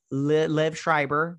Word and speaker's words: Liev Schreiber: davis jeffrey wright uh liv schreiber that's how you say it and then he's